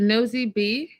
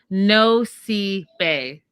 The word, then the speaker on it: Nosy Be: Oh, is it Nosy B? No. Okay, I wrote it down phonetically. No sea bay. No bay. I got it right.